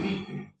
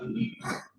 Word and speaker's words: límite: No termina en ns no tiene que ter acento en español no se fala el limite se fala límite.